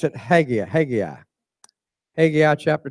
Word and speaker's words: Haggai: I pronounce it Haggai.